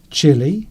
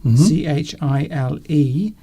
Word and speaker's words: Chile: And of course, as Rhubarb has pointed out, there is another pronunciation of Chile, the country. Yes. Chile, Chile. So that's three different words that sound the same, that all have different meanings.